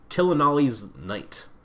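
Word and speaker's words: Tilonalli's Knight: Tillanali's Knight.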